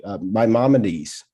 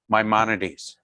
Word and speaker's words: Maimonides: How do you pronounce the name, Rabbi? Maimonides. Maimonides.